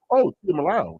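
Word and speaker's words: Tuimoloau: I started hearing, Tuimalau. That's how you say it.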